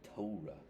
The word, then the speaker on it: Torah: the book of the prophet Isaiah the Torah or as Greg wattenberg says the Torah which is the correct pronunciation thank you and so you know here's